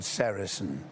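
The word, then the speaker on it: sericin: One of them a very important one is called sarasin. Now you spell that s e r i c i n.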